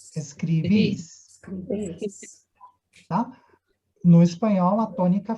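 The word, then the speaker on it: escribís: Perguntinha, onde que está o acento? Em qual I? Primeiro No ou último. segundo? No No último. último. Então, onde que vai ficar forte quando eu falar? Escribes. Escribis. Escribis.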